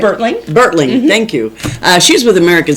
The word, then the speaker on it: Bertling: Bertling, thank you.